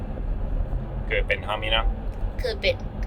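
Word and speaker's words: Kööpenhamina: Köpenhamina. Köpenhamina.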